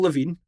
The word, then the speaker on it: Lavigne: Avril Lavigne, her first name has got 5 letters. And what's the silent letter in her surname? Oh, shit. G.